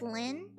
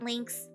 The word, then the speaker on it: Lynn: It's pronounced Lynn. Um, so that's the only thing that really matters. So it's not links.